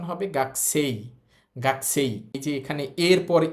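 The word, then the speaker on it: 学生: শব্দটার উচ্চারণ গাকুসই ছিল। তো গাকুস না হয়। এটার উচ্চারণ হবে গাছেই।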